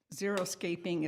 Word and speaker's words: xeriscaping: The xeriscaping is spelled with an X, X-E-R-I, scaping.